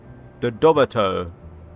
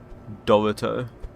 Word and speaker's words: Dorito: The Doorto. God, that's criminal to say it like that. Dorito.